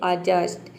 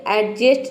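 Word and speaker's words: adjust: letter silent रहता है rule number four है यदि किसी वर्ड में डी के बाद अगर जे लेटर आ जाता है तो वहां पे भी डी लेटर साइलेंट रहता है एग्जांपल देखते हैं अजस्ट यहां पे देखिए अजस्ट इसको हम प्रोनाउंस करते हैं अजस्ट ये एडजेस्ट नहीं होता है कई स्टूडेंट इसको बोलते हैं एडजेस्ट तो इसमें डी साइलेंट रहता है हम डी को प्रोनाउंस नहीं करते क्योंकि डी के बाद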